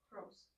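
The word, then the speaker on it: πρός: is it just Pros so this is is one syllable this is one syllable it's Pro so the emphasis is not on the accent of the O so only vowels can have accents so there's only one vowel and there's one syllable so there's only one place for the accent okay am I does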